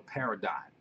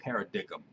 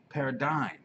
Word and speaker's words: paradigm: thing was called a paradigm I hear people now saying para dickham and I think to myself what the hell is a pair of dig'em because the G is silent it's dying paradigm I see people spelling